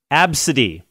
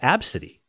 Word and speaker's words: Abcde: Tracy Redford told us, her father's name is ABCD, which is pronounced Absidy. If you saw ABCDE, how would you pronounce that? Absidy.